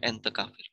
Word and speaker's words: entecavir: bercanda bercanda and ya tapi sebetulnya Emang tulisannya entecavir ya tapi dibacanya entecavir Anto kapal yang yang